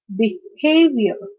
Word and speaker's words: behavior: In this case, again, we can understand that the stress is on the second syllable because attention, okay, attention, behavior, connection, condition.